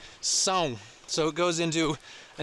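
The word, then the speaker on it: São Paulo: in brazil sao paulo s-a-o that's not pronounced sao like some people would say it's actually pronounced song so it goes into a nasally and so sao paulo santiago santiago is the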